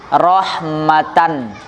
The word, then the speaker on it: rahmatan: Seakan-akan misalnya rahmatan. Misalnya rahmatan, seakan-akan kan ada nunnya.